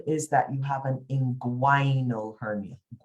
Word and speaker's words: inguinal: Smith, your problem is that you have an inguinal hernia. So here you pronounce the G and the U.